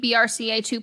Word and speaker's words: BRCA: In 2020, my best friend got a preventative double mastectomy and reconstruction because she's at BRCA2 positive.